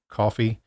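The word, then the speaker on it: Ko-fi: description as well and it's ko fi but they pronounce it coffee it's just a one-time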